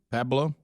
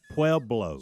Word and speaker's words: Pueblo: Pablo. It sounds like the place you used to mail to get government printing. You remember they'd say send it to Pueblo, Colorado, whatever. Pueblo.